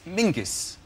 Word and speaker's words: Mingus: His name is Mingus. Mingus, yes. Scots. Yeah, Mingus. Yeah, but it's pronounced... It's spelled M-E-N-Z-I-E-S.